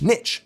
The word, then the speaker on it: niche: sound more English with niche. But over time, Brits Frenchified it back up. Important to note, though, Americans do actually say niche and niche depending on the region and age of the speaker.